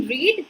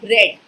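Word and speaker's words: read: loose, lost, lost, जैसे रीड है ना, रीड के बाद देखो स्पेलिंग सेम है, लेकिन रीड, रेड, रेड, इसको रेड रेड पढ़ते हैं ना, रीड रीड रीड नहीं पढ़ते हैं ना, यू ऑल नो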